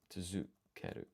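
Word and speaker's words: 続ける: So, tsuzukeru means to um what? To continue? But why use tsu with dakuten that has romaji equivalent of du but is pronounced zu.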